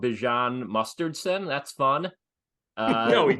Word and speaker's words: Bijan: Bijan, is that how you pronounce his name? Bijan. Bijan is real.